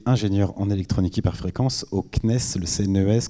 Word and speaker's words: CNES: en électronique hyperfréquences au cnes le cnrs comme on prononce d'ailleurs le cnes ont dit le cnes et si on et